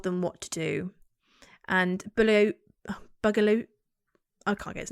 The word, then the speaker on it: Bugliosi: So during Manson's family trial, his prosecutor Vincent Bugliosi, I'm pronouncing that right?